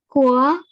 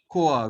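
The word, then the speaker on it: quoi: It is always OI is always pronounced as OA without nasal sound. Okay, you pronounce the first word. Poa. Poa. Very good. Poa means weight. WEIGHT. Next one. Coa. Koa.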